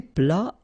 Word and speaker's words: plat: Then un plat principal, final T here, not pronounced.